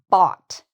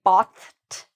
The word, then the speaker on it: bought: If you can say the word robot, bought, it's the same pronunciation.